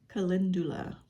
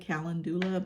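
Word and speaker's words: Calendula: going to use this Kindulla. I believe that's how it's pronounced. I said Kalandula, but I my I probably have told you this before. My friend's like, "It's not right. It's not how you say it.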